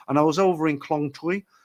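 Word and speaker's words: Khlong Toei: And I was over in Klong Tui. That's how you pronounce it. Tui, not toy.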